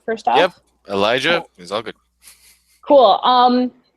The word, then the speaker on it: Elijah: segment we're just about to talk about um Elijah I'm Gonna Let You am I pronouncing your name right first off yep Elijah is all good cool um we've already talked